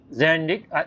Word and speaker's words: Zandik: Zandik. It's pronounced Zandik. I call Zandik, but Zandik.